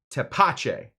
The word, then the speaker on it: tepache: As a native Spanish speaker, says Non-Touchable, I think it's tepache. Pronunciation seems right in my book.